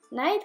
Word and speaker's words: knight: for night and dragon knight has a silent k in the word the knight and the